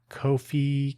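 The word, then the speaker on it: Ko-fi: kofi kofi I always pronounce it like that to emphasize that it is not a normal spelling.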